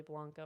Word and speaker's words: Blanco: It's pronounced Blanco. I know it's really Blanco. It bothers me, but No.